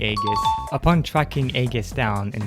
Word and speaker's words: Aigis: And no, it's not Aegis. I pronounced it like that for a while, but it's actually Aegis.